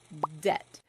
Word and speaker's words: debt: So they added a B debt. A B that had never been pronounced in English, not once.